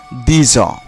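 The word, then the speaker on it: dix: আর একটা ছিল অ, কিন্তু এই যে ইক্স এবং আ পাশাপাশি হওয়াতে এর মধ্যে একটি সন্ধি হচ্ছে, আর তখন ইক্সের উচ্চারণ জ হয়ে যাচ্ছে, তো একসাথে বললে কি হবে দিজ।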